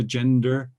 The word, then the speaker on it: agender: of the atlantic because our pronunciation of a g e and e or is agenda right so that's that's where